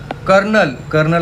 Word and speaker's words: Colonel: कर्नल असं म्हणतात, पण इथं र नाहीचं स्पेलिंगमध्ये, COLONEL, कॉलोनल. ब्युरोक्रेसी स्पेलिंग आपण बघितले कसं बघायची, नोकरशाही.